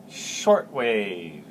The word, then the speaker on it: shortwave: And in fact, they affectionately called me shortwave, with the emphasis on the first syllable, the emphasis on the first syllable. That was my nickname. Everybody in there had a nickname, and mine was shortwave.